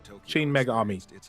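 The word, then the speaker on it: Shin Megami: Pronounced Chin Mega Army. Tensei 5 Vengeance. If Persona is about the power of friendship, its parent series, Shin Magami Tensei, is about the power of surviving the apocalypse.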